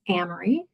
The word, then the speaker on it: Amery: I'm coming from so my name is Amry it rhymes with cry like the car if that helps last